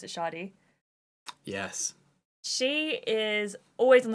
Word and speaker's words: Shadi: I pronounce it Shadi.